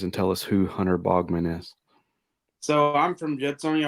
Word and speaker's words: Baughman: whatever you say I'll answer to it but Bogman is is what I say that doesn't mean